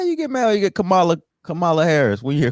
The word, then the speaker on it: Kamala: hear Cala because some people know how to pronounce her name why you get mad you get Kamala Kamala Harris when you hear Kamala Harris because